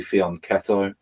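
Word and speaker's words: fianchetto: sit in here yeah fion some people say pronounced it faneto but it's apparently and I've asked Italians it's it's actually faneto according to Italians so uh um yeah so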